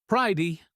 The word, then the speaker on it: pretty: The T is a flap, sounding like a soft D. Pridey, quiet.